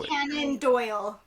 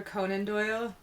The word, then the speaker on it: Conan Doyle: of Sherlock Holmes what we do know Canon Doyle Arthur Canon do do sorry me butchering his name yes I was like oh I did you're like that that's yes not yeah his first name wrong in my head I'm just realizing now I was today years old where I realized it wasn't Sir Arthur Conan Doyle it's that okay okay yes